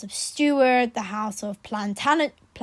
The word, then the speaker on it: Plantagenet: Tudor, the House of Stuart, the House of Plantagenet, how do you pronounce it? Plantagenet. I don't know how to say it. Plantagenet. Oh yeah, Plantagenet.